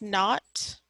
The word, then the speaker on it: naught: that knot right there that little zero it's pronounced not okay not very important